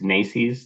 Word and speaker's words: NACE: There's AIC and there's NICE. That's spelled NACE.